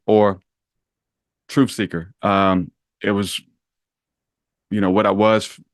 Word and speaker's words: TruthSeekah: way I pronounce words, it was never a TruthSeekah with a hard ER, always with an A or an AH.